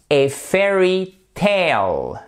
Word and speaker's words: fairy tale: Donc là, le AI se prononce comme un E, mais le A ici se prononce comme un A, comme le E de gros A, comme dans came. So, a fairy tale.